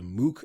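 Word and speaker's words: Mookh: Another Kenyan tech firm planning to grow outside of the country's borders is one called Mook, and that's spelled M-O-O-K-H.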